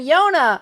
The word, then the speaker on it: Yona: Any luck with Yona? That's her freaking name. Yona. How did I forget that? It rhymes with Jonah.